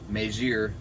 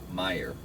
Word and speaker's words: Meijer: it away meijir my majir the thing i couldn't pronounce meier like really i had to go crazy on your spelling um i had something others yeah m e i j e r meyer ridiculous good discount though